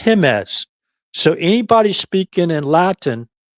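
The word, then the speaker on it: Jemez: He says, no, the J is pronounced with by the letter H. It's not Jimes, it's Himes.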